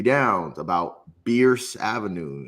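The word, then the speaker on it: Bearss: Downs, about Bierce Avenue. It's not pronounced Bears. Like, and I was like, oh, like Bears. No, it's Bierce.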